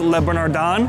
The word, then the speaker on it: Le Bernardin: eating at Le bernardon I believe it's pronounced Le bernardon unfortunately there's quite a